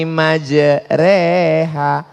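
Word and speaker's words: مجراها: ada cara membaca imalah Bismillahi majreha tulisannya majroha Tapi bacanya miring Bismillah reha namanya imalah mal mal artinya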